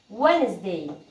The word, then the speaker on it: Wednesday: هنا مثلا Wednesday Wednesday، هنا الجي والان مع بعض، فاحنا الجي مش بننطقها اساسا، بنقول Wednesday Wednesday، يعني الجي والان مع